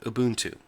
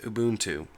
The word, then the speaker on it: Ubuntu: hear him give a speech he calls it auntu it's an African word that means community and it's pronounced auntu here's one that kind of gets on my